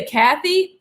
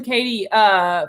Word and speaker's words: Katie: And for saying my name correctly, too. Too many say Kathy. German Katie from.